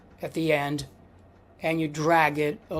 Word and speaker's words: e: native English speaker, because in English we pronounce this letter E, but in Italian it's not E, it is E, E. Like, for example, ecco. You might have heard Italians say that word ecco, which means here it is,